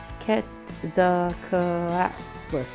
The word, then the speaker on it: Quetzalcoatlus: Quetzalcoatlus.